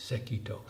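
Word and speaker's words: Sekitō: an early Chinese Master his name was sekito pronunciation in Japanese sekito one of the forefathers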